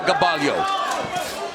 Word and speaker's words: Gaballo: Gabayo Gabalio has landed the jab a little bit more. Second one. There's another jab by Gabalio.